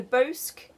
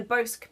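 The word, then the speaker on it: Bosc: Okay, so then once that was finished, I started swatching for a shawl pattern called the Bosque Pear Shawl by Tatiana.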